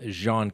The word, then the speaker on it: Jean: witness in the bottom jean case now first you may have heard that very French pronunciation where did we get